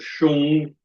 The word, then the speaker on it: Song: And some people pronounce it Shung. It's spelled Song.